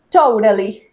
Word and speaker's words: totally: La t cuando generalmente está entre vocales, ¿sí? Entre sonidos de vocales. En el inglés de Estados Unidos lo pronuncian más como una. Por eso acá decimos totally.